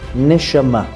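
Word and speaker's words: נשמה: essence of the soul the word soul in Hebrew is pronounced neshama in the middle parts of the word neshama you can find the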